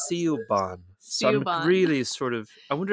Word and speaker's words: Siobhan: So what they do is they dot the B and H to make it sound like va.